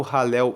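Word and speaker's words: Hallel: O que é o ralel egípcio ralel se escreve h a l l e l ralel egípcio o ralel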